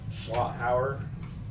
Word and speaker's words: Schlotthauer: Reservoir East Shore Residential District located at 2132 Schlotthauer. Is that how you pronounce that?